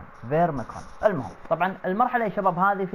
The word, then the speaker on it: Pharmakon: اليوم يا شباب ويا جماعة جبنا لكم شرح أماكن تجميعات مرحلة اسمها فورميكون. معلش اسم الكلمة شوي نطقها صعب فما علينا. فورميكون، البي والإتش لما نجون مع بعض يصيرون في فيرميكون.